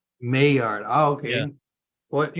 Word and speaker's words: Maillard: I know everybody pronounces it Mallard, but it's actually Maillard. Maillard.